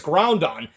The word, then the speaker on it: Groudon: Okay, I was trying to pronounce the Ruby's legendary one, so it's Groudon.